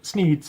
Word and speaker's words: Sneed: the shop is called sneeds Feed and Seed where Feed and Seed both end in the sound e thus rhyming with the name of the owner Sneed the sign says that